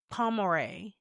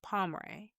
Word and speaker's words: Pomeroy: But the next case is Jesse Pomeore. And I'm I know I'm saying his last name wrong. Pomeroy.